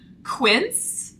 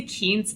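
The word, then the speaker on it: Quince: B six and then Quint Quint I always say it wrong in my videos I say ke I do not know why but apparently it's Quin so thank you for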